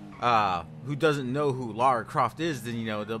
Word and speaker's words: Lara Croft: why is you know Laura Croft Lara Croft excuse me not Laura I didn't mean to say it like that it's my accent I apologize but anyway